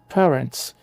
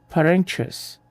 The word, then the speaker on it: parents: Parents. O stress tônico está na primeira sílaba, pa. Note o som do ditongo. É um E que relaxa. Se você diz parentes, eu já ouvi gente falando isso, vocês sabiam? Com o A aberto do português, você sinaliza que o